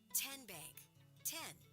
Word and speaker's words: TN: How do you say the name TN? N what is it? 10 as in Tennessee right here where all